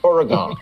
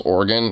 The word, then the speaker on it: Oregon: Oregon. Did he just mispronounce Oregon and say Oregon?